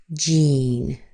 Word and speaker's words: Jean: G E A N sounds like Jean. Jean. The E A is a long E sound.